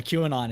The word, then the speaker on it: QAnon: you're cr you're cracking me up calling it q ainon i just heard everybody say qwen on and it's just i i like your pronunciation yeah q anon is probably the better procrastination but that's all